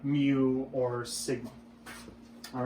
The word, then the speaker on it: mu: That's actually pronounced mu.